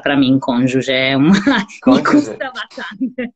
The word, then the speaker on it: cônjuge: Palavra muito difícil de pronunciar para mim, cônjuge.